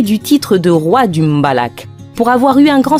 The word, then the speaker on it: mbalax: Un style tout particulier retient notre attention, le mbalax, prononcé mbala.